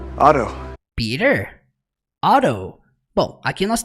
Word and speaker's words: Otto: Por mais que nós pronunciemos no português Peter, no inglês eles falam Peter. E o nome dele, Otto, que é Otto Octavius, o nome dele, é pronunciado em inglês Otto. Otto. Então é tudo com R, gente.